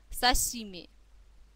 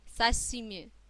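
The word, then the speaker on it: 刺身: если Рыба свежая а обращаем внимание на то как произносится слог ши да сашими сашими На этой картинке вы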